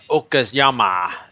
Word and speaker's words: Okayama: Gary said it right. I think I got to give him like some kind of applause or something. Yeah, you just got to say it in the Japanese style.